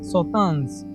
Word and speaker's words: Sauternes: So you pronounce this as Sauternes.